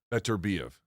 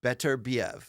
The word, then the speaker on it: Beterbiev: He says, Beterbiev. Beterbiev.